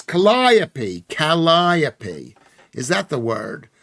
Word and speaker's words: Calliope: How do you pronounce that? That, says Mr. Cuff. Funny. Gallipoli. No, what is it called? It's Calliope.